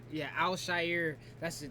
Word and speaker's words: Al-Shaair: And on top of that, as you see, I can't remember how to pronounce his name, but I want to say Al-Shaair. Yeah, Al-Shaair, that's his name.